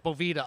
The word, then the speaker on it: Boveda: is boveda but hey everyone says bovita or it's a bunch of different things so okay do with the doveways bovita dude or boveda if you guys want to be french call a boveda i'm american so it's boveda okay hey that works